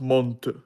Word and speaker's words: Mont: Am I correct that it's pronounced Mont?